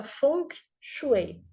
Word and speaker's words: Feng Shui: e a água e na verdade a pronúncia correta seria fonk chuei Então esse som ele